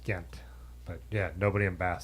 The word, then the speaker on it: Ghent: So David said it's definitely pronounced Gent. Ghent, yeah. But, yeah. If you lived in the town in Britain, it would definitely be pronounced Ghent.